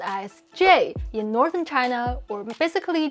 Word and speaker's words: 这: 然后虽然其实不知道然后我是双鱼座虽然其实我不知道这到底是什么意思。By the way, 这 is actually pronounced as J in northern China, or basically just in Putonghua nowadays.